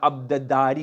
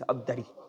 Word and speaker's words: Abdari: Instead of Abdadari, it's Abdari.